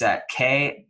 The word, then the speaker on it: Kseniya: I'm going to spell it for you just so you can get this right, because I wouldn't say it's spelled how it sounds, but it's Kseniya, Kseniya, and her last name is Kniaz as in zebra, EVA.